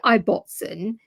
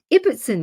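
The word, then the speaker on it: Ibbotson: I don't know why people say Iboten because Ibbertson is phonetically correct.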